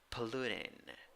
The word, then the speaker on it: polluting: green number four nine nine letters and seven sounds three syllables the second syllable is the one that is stressed first syllable schwa neutral oh a second syllable the vowel oh you have to round your lips ooh and third syllable i i is a weak e sound all right so polluting polluting a number six